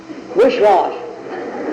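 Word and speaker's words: Wisquash: he says, you don't spell Wicwas, W-I-C-W-A-S, you spell it W-I-S-Q-U-A-S-H, wishwash.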